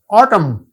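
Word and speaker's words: autumn: listen T silent है ऑटम N silent है right W silent रंग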